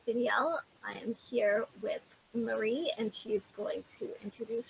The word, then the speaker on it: Mary: I am here with Marie, and she's going to introduce herself. I hope I pronounced her name right. Yes. Yes. My name is Mary, and I live in Louisville, Kentucky.